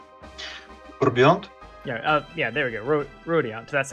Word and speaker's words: Rubiont: Rubiont. That's how it's pronounced.